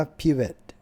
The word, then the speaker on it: Pivot: ไทย หมด นะ ครับ อ่าน ว่า พี่ เวท นะ ครับ พี่ เวท ไม่ รู้ ทำไม มัน ไม่ อ่าน ว่า เขียน p i v e t ไป เลย ล่ะ ผม ก็ ไม่ รู้